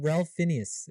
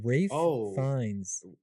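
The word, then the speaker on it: Ralph Fiennes: isn't that insane yeah it's not Ralph Phineas it's Rafe fines oh really in conlay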